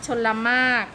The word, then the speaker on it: ชลมารค: กลาง คำ นะ คะ ชลมารค เรา เรือ นะ คะ ที่ ไม่ ได้ ออก เสียง พด จะนาด รอ เรือ